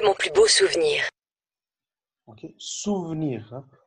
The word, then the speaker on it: souvenir: Ok, souvenir. Le E au milieu, on ne le prononce pas.